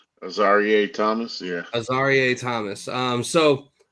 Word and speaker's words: Azareye'h: Moving on to our third round pick, we took Azareye'h Thomas. Am I pronouncing that correctly? Azareye'h Thomas, yeah.